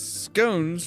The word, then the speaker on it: scones: I mean, there are five legs, fingers, whatever they are, there's 5 of them, so Marchhare informs me that in educated circles, scones rhymes with bones.